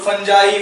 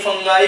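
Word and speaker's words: fungi: है फंगाई, ठीक है, इसको लोग फंजाई फंगाई कुछ भी बोलिए, यूके में अलग प्रोनाउंसिएशन है, यूएस में अलग प्रोनाउंसिएशन है।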